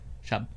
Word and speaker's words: Schaub: Shuhab, yeah, he doesn't fight Shuhab. though. He hasn't fought in like years. How do you say that? Schaub. Schaub? Is it Schaub? Jake Brown. It's like a noise. Shop.